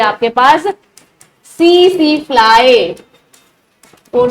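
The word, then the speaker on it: tsetse: silent है ठीक है टसी टसी फ्लाई मत बोलना इसको ठीक है ये सीसी फ्लाई होती है टी इसमें क्या है बेटा साइलेंट है ठीक है नेक्स्ट बेटा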